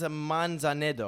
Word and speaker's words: Manzanedo: Manzanado. Thank you. Is it Manzaneto or Manzaneto? Manzanedo, actually.